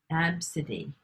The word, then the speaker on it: ABCDE: I'm saying is because ABCDE is actually the name that someone in the United States recently gave their child on their birth certificate, and they pronounce it Absidy.